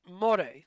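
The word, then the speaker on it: 漏れ: Mid-2000s Japanese internet culture even had its own special pronoun, more, pronounced more, like the eel.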